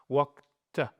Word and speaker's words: walked: Comme ça finit par un que, l'infinitif, on prononce walked.